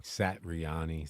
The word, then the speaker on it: Satriani: I'm sorry, I said his name wrong. Satriani.